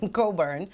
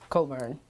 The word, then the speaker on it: Cockburn: know Cockburn is spelled C-O-C-K-B-U-R-N. And I didn't know that C-O-C-K-B-U-R-N was Cockburn. The CK is silent.